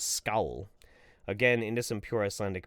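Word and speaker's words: skál: Sonia B, that was a great Scandinavian skull, but skull, the closest pronunciation is scowl.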